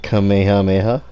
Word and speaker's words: Kamehameha: was that one YouTuber he'll pronounce this as kamehame come here mama and there's no other players that say it's kamehamita and kameham what was it call me call me ha Mimi or something like